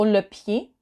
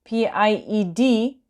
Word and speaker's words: pied: Next slide, we have the foot in detail, so le pied. Le pied. So again, tricky, P-I-E-D, you don't pronounce the D, and you pronounce it as pied, although it's not written